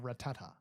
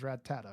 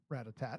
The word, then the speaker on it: Rattata: It's by saying it wrong, and then I kept saying it wrong, and then my cousin kept saying it Ratatat as well, and he got yelled at.